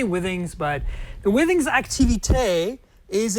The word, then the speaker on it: Withings: how you say it people say w things some people say things I say Withings but the withing activity